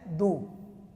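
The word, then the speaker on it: d'où: And this is pronounced as do.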